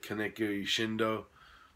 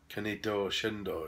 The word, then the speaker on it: Kaneto Shindo: This is directed by Kaneki Shindo. I can't believe that's how you pronounce it. I probably butchered the fuck out of it. Kaneto Shindo, yes.